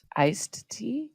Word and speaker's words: iced: Iced tea? Oh, I guess you don't necessarily pronounce it, do you? You don't really think about it.